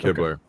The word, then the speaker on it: Hibbler: The artwork behind the game, is that Eric Hibbler? Is that how you say it? Yeah, Eric Hibbler. Because we'd say Hibble down here, so I want to make sure I get it right.